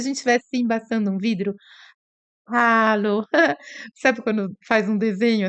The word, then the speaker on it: hallo: Bom, hallo em alemão, hallo, o H tem esse som de ah, como se a gente estivesse embaçando um vidro. Hallo.